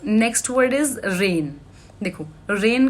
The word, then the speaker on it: reign: Attach करूंगी तो वो रेन्स बन जाएगा, लेकिन नहीं, प्रोनाउंसिएशन में रेन्स के एक स्पेलिंग और भी होते हैं। REIGN भी रेन होता है, REIGN भी रेन ही होता है, ठीक है।